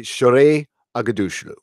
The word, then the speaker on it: Shohreh Aghdashloo: So the great Christian Avasarala is played by Shohreh Aghdashloo. And I had to work on that one, but it's actually Shohreh Aghdashloo. That's how you pronounce her name.